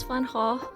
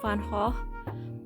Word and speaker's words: Van Gogh: I explained that in my, I explained why I keep mispronouncing Van Gogh. Van Gogh. See, my guttural G is really weak.